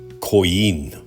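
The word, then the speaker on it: Coín: And then forward towards Coin. Actually, I think the pronunciation is Coin.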